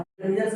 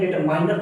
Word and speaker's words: determiners: बहुत से लोग इसको डिटरमिनर का प्रोनाउंसिएशन करने में गलती करते हैं। डिटरमिनर्स ये होते हैं, डिटरमाइनर नहीं बोलना है, डिटरमाइनर्स नहीं बोलना है। इसका जो प्रोनाउंसिएशन शुद्ध प्रोनाउंसिएशन हो जाएगा। अगर बात करें यहाँ पर इसका शुद्ध प्रोनाउंसिएशन हो जाएगा प्रोनाउंसिएशन की बात करें तो इसको बोलते हैं डेटर। इसको बोलेंगे डिटरमिनर्स।